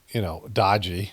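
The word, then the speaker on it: Daaji: It means like respected uncle or something in India, but it also means, dodgy, like it's spelled D-A-A-J-I, but it sounds like dodgy, D-O-D-J-Y.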